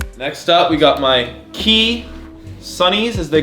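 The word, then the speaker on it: Quay: don't know about pronouncing the word kwai as key but that's how it's pronounced I still call it playing I call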